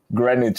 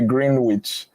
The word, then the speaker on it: Greenwich: It's like people come to Greenwich in London and they say Greenwich. No, they'll laugh at you.